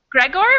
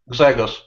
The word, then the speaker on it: Grzegorz: New student whose name I'm going to have a lot of trouble pronouncing. Is Yeah, I it know. Gregor or Grzegorz?